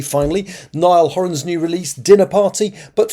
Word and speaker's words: Niall Horan: Yes, listen, I'm pronouncing it correctly finally. Niall Horan's new release, Dinner Party.